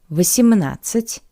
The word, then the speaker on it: восемнадцать: шестнадцать, 7, семнадцать, 8, восемнадцать, 9, девятнадцать. And 2 points important for the pronunciation of the numbers from the second column. Firstly, I remind you that the letter D is not pronounced.